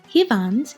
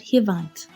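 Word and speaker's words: հիվանդ: Hivand in Eastern Armenian is the word for sick. In Western Armenian we use the word hivant. Almost the same but with a slightly different pronunciation.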